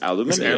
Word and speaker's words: aluminium: from the real the real term is aluminium. Aluminium. Should we be taking our vitamins at the same time and then pronouncing the H in her because there's a H in it.